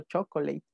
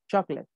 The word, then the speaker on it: Chaplin: hay tres generaciones que aprendieron esta palabra maldiciendo chocolyne hay maestros que si le enseñan pero está mal la pronunciación es charles chaplin y viendo la exploradora van a ver que